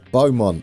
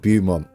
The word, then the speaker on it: Beaumont: comments by the way beaumont not bum i do like to